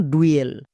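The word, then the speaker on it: duel: থাকে তাহলে হস্যুকার আর যদি মাঝে থাকে তাহলে উই এ সাউন্ড করবো যেমন ডুয়েল এখানে মাঝে ইউ আছে তাই এর জন্য উই এ সাউন্ড হচ্ছে আরেকটি এক্সাম্পল দেখো তাহলে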